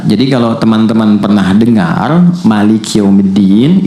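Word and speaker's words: مالك: Jadi kalau teman-teman pernah dengar Maliki Yaumiddin, itu bisa dibaca dengan dua cara. Ini informasi saja. Bisa maknya pendek, bisa panjang. Jadi ada riwayat yang pendek, ada riwayat panjang.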